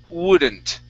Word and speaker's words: wouldn't: Start off with an wouldn't. Wouldn't. Okay, now you're almost there. You're saying wouldn't. All right, the word would be So it's two vowel sounds, oo and uh.